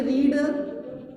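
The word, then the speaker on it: read: तीनों फॉर्म की spelling same है, रीड, रेड, रीड। पढ़ने का अंतर केवल फर्स्ट फॉर्म को रीड पढ़ते हैं, सेकेंड फॉर्म को रेड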